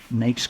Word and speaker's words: NAICS: NAICS codes.